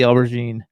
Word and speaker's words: aubergine: show Dawn your watch real quick, and everybody loves it, and they all said they love the aubergine. The what? Aubergine. You pronounce it correctly, or I'll beat you.